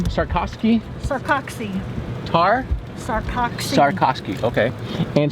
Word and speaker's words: Sarcoxie: Sarcoxie.